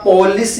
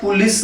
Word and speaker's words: police: इसका पोलिस या पुलिस नहीं होता, इट is sounded पुलिस, इट is sounded पुलिस।